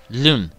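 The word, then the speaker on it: Luin: Lewin. Okay, so that's how you pronounce the name of town, but that was kind of interesting cutscene, I guess.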